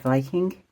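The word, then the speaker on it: Wiking: the author is Mike Viking um I might be pronouncing his sir name wrong it's a w but I think in Danish you like Pronounce W as V's I don't know where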